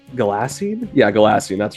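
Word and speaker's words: Ghalasine: The Shard was the heart technically yes uh gasoline no that's that's not how that would be pronounced uh G gassin yeah gassin that's right spell that for me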